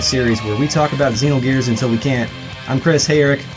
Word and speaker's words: Xenogears: talk about pronunciation first my base instinct is to say Xenogears because i said that for most of my life but the actual pronunciation is Xenogears so you'll probably hear